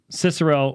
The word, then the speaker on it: Cicero: you've got Gnosticism stoicism cicero or kicker oh depending on how you pronounce it judaism and thankfully